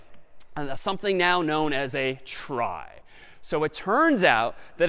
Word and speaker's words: trie: A trie is sort of a fancier tree. And it's short for retrieval, but pronounced trie for weird historical reasons.